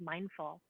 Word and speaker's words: MNDFL: And then if people happen to be in New York City, I teach at this really beautiful studio called Mindful, and it's spelled MNDFL.